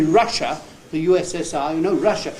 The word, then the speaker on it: Russia: the USSR you know Russia if you pronounce that and say the r at the end then you have produced another totally different English word a very good pronunciation